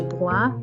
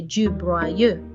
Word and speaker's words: broie: There is only one syllable. We do not need to say je broyeux. The last syllable is silent, so only one syllable is said.